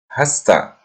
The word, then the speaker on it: has to: Has to juga terkadang pada pengucapannya disingkat menjadi hasta.